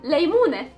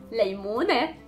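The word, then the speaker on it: ليمونة: Again, it has the noon and then the T marboota, so the pronunciation of the T was e, janne. Next we have leymune, leymune, a lemon.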